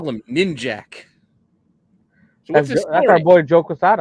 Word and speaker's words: Ninjak: a ninja and we're gonna call him ninjac I came out later that it was actually called ninja k that's how we were supposed to pronounce it yeah so Valium was